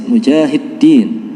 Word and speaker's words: Mujahidin: Tidak lupa kita berterima kasih kepada pihak Takmir Masjid Mujahidin. Ya, saya bacanya sesuai yang tertulis, D-nya 2, Mujahidin, yang masih memberikan kesempatan pada kita untuk beribadah di tempat ini, dilanjutkan tholabul ilmi.